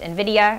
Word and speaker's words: Nvidia: know it spelled super where it weird it's pronounced Nvidia I don't know if you guys have heard